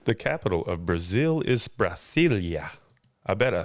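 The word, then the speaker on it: Brasília: what there your answer you're like pronouncing that Brazilia that's the capital of Brazil is what Brazilia Brazilia I did not know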